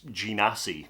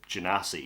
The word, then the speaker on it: Genasi: But everyone calls him G, so that's G Nassy, the Genasi.